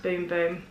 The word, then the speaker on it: Bum Bum: But it is the Sol de Janeiro Bum Bum Cream. It's actually pronounced Boom Boom, but it says Bum Bum.